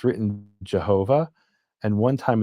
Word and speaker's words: Jehovah: But in German to this day, if you were to write J E H O V A H, Jehovah, they would pronounce it Yhovah.